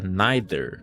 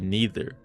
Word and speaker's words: neither: Por exemplo, tem muita gente que fala neither em vez de neither. É escrito da mesma forma, só é pronunciado de um jeito diferente.